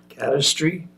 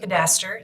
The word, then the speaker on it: cadaster: uh so special details into the cadry I don't I probably didn't pronounce that right cadaster yep that's SI okay so